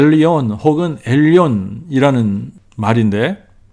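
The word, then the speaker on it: עליון: 하나님의 에 타이틀 엘 엘리온 혹은 헬렌 이라는 말인데 엘리 오늘 빨리 발음하면 엘리온 엘리언 엘리언 엘리온 이 되죠 멜리언이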